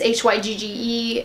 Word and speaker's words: Hygge: It's Hygge, and this is a gorgeous light powdery blue with a really pretty copper flash of shimmer that's in here.